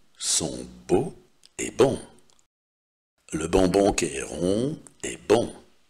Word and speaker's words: bonbon: Если буква Н стоит в середине слова и после буквы Н стоит согласная, то буква Н будет произноситься тоже как носовой звук. Le bonbon est bon.